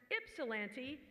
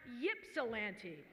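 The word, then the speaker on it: Ypsilanti: have corrected people many times that it is pronounced its cilenti not yips olanta congratulations on a job well done and for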